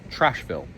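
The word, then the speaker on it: Treichville: So, you'll see behind me here the name of this area, but it's pronounced Trashville.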